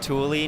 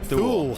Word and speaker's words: Thule: Yeah, everyone's pronounce it Thule. Yeah, Thule. And it's like, no, it's Thule, guys.